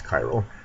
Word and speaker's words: chiral: One thing you can just always keep in mind, a spiral is always chiral. I think they rhyme with each other just by coincidence, but it's a useful thing.